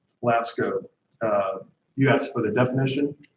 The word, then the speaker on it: Lascaux: I'm just going to double check the pronunciation. Lasco.